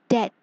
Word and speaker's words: debt: Debt. Debt. B is silent in this word, so we will read it as debt.